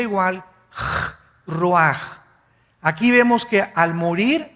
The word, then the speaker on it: ruach: El ruaj que se escribe r u a c h ruach en el hebreo y se pronuncia igual ro ruaj.